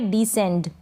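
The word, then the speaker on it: descend: Next है डिसेंड। क्या है? डिसेंड। डी को ड पढ़ रहे हैं। एस सी के बाद क्या है? ई है, इसलिए हम इस एस सी को स पढ़ेंगे।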